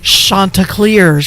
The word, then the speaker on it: Chanticleers: When I say Coastal Carolina, you say the Chanticleers.